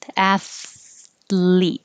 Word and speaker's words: athlete: athlete athlete nope athlete it is just weird to go from the th to the l because i'm not pulling it all the way back up for the athlete i just start making my l while it's behind both of my closed teeth athlete clothes um we